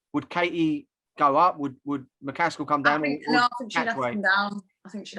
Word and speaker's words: McCaskill: And I'd quite like to see Katie Taylor fight Jessica McCaskill again.